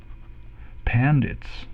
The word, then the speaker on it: pandits: The many pandits are pandits. It rhymes with bandits.